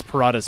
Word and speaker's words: Parata's: It's Parata's Peace, not Prada, not Prada's Palace.